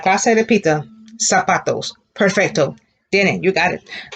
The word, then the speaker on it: zapatos: If the Z sounds like an S, how do you think you would pronounce that word? Can you see it? All right, clase, repita. Zapatos.